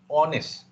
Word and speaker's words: honest: Walaupun ejaannya H, tetapi you sebut honest.